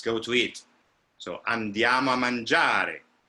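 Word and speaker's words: mangiare: it so andiama manjari i know that you have to land on manjari and the last syllable doesn't disappear but it definitely doesn't have the same kind of importance that manjar the ja has or for example um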